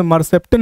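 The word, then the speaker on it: mercaptan: उस स्मेल का नाम है इथाइल मरकेप्टेन। क्या नाम बाबू? इथाइल मरकेप्टेन, या कहीं कहीं प्रोनाउंसिएशन मरसेप्टेन भी कह देता है, घबराना नहीं है। मरसेप्टेन कहिए या मरकेप्टेन कहिए, ठीक है बाबू।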